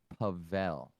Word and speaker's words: Pavel: or the or what i tell people is pavel pavel okay so pavel the snail pavel the